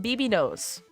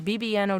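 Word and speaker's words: bbno$: BB NOS his not it's not bbnos literally even he says it's not BB noose like he literally says it's bban O dollar sign the the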